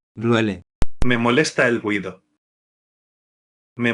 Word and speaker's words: duele: Pronunciation tip: pay attention to the subtle stress on the second syllable of. duele.